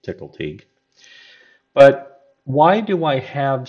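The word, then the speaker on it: Tcl/Tk: you'll see right here this is tickle teak that's how you pronounce it tickle teak but why do I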